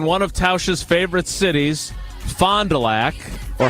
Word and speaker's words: Fond du Lac: du Lac Paul how do you say your town it's Fond du Lac yeah right exactly are you proud of your town it's a hard D yeah he's proud of